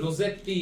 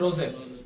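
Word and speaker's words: rosette: রোজেট বানানটা দেখবে আর ও এস এস ই টি টি ই, রোজেট টি, এরকম আবার বললো না, ঠিক আছে? এটা নাম হলো রোজেট।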